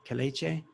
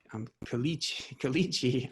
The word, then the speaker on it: Kelechi: recently joined, Anita and Kaleche, which, by the way, is not pronounced Kalichi.